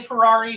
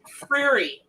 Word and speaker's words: Freary: I used to say Ferrari, Fieri, Guy Fieri, all that. It's Freary.